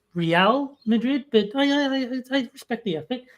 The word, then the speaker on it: Real Madrid: Uh, real I'm guessing is a reference to you suddenly supporting the Madrid soccer team as uh you would not know that it's pronounced Real Madrid, but I respect the effort.